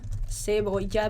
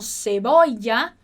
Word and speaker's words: cebolla: Então, cebolla blanca. Escolhe aí a sua pronúncia preferida para esse LL e vai comigo.